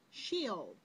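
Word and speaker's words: Sheol: as hell was a Hebrew word pronounced shield the little Hebrews this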